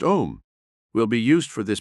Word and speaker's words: Om: relaxed mentally and physically the sacred word am pronounced om will be used for